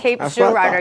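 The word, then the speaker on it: Cape Girardeau: He used the French pronunciation, but he has to understand that in Missouri we name everything French names and then we mispronounce them.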